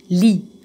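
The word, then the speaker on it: lit: تاني، لو كلمه مذكره مثلا انا عندي هنا كلمات هناخدها في الوحده دي، زي كلمه لي، لي ما بنطقش حرف التي، سايلنت لي، مون لي، لما احط قبليها مون يبقى معنى كده اولا انا عرفت ان الكلمه دي مذكره.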